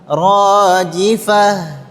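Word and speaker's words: راجفة: Ta marbutah ketika dia waqaf ketika waqaf maka berubah menjadi ha dan huruf ha itu huruf yang lembut. Lembut ya dibacanya lembut. Rojifah. Rojifah. Coba semua. Rojifah. Rojifah. Nah, jadi jangan rojifah. Jangan terlalu kuat.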